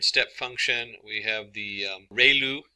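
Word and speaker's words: ReLU: We have the ru is pronounced like ray the ray from the sun and lu like a name. So ru function.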